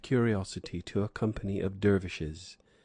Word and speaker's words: dervish: to a company of dervishes they themselves pronounce it Darwish accompanying one of the